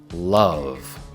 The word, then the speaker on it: love: Otra vez concentrándote en pronunciar la B, la la V al final de love. Así suena. Love. Love. Repítelo tú. Love. Muy bien. Muchos hispanohablantes tienden a pronunciar ese último sonido de la la como si fuera una f y ellos dicen love, love en lugar de love, porque ese sonido es un poquito difícil de dominar inicialmente, pero vamos a